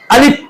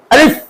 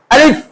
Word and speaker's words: আলিফ: আমরা অনেকেই হরফটিকে দুই ঠোঁট মিলে ভুল ভাবে উচ্চারণ করে থাকি। আলিফ, এটা ভুল। আমরা অনেকেই হরফটিকে দুই ঠোঁট ফাঁক করে বাতাস বের করে বলে থাকি আলিফ ফু দিয়ে, এটাও ভুল।